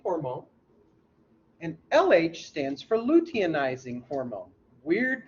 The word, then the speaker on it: luteinizing: FSH stands for follicle stimulating hormone, and LH stands for luteinizing hormone. Weird pronunciation, luteinizing hormone.